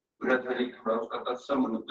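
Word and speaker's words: भर्तृहरि: university बनी है, राजऋषि महाराज बृहदहरि, ये सही प्रोनाउंसिएशन बृहदहरि थोड़ा उसका तत्सम रूप है, बृहद सेवक से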